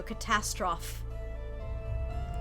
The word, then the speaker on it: Catastroff: Shane has written down The Ruins of Catastrophe, pronounced with a silent E, so Catastroff.